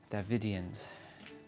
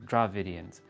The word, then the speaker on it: Dravidians: Davidians. Or Dravidians. My bad. Not Da. There's R there. Dravidians.